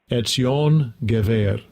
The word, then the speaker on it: Ezion: hebrew strong's h 6100 ezion ezion that's the hebrew pronunciation but we spell it e zion gabber oh that's so that's